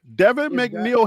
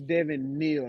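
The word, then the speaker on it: Devin Neal: Scout that I gave Devin mcneel has scored their their first two touchdowns it's Devin Neil not M Neil if you gonna say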